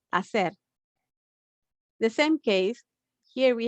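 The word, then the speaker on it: hacer: a verb to do if you notice i didn't pronounce the h and you say acer the same case here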